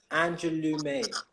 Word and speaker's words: Angeloumae: of all let me make sure i pronounce your name correctly angelou may yes that was right so i'm always really